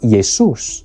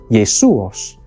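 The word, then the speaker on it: Ἰησοῦς: of the names and in each case the name yesus or a variant yesos is in the Greek version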